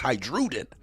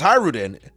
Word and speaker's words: Hajrudin: funny cuz I know people saying the J is silent, but you know, we mispronounce names on here for sport. So, it's Hajrudin. We might as call him Drew for real for real. Drew Holiday. Even though it's Hayreddin, to me it's Hajrudin.